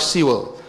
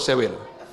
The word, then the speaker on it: Sewell: The last name is spelled as S-E-W-E-L. He's pronounced as, what's the name? Mike Sewell. So I call it, in my country, if I pronounce it my way, I call it Sewell.